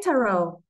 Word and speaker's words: tarot: So do you say tarot or tarot? I've heard both ways. I say tarot.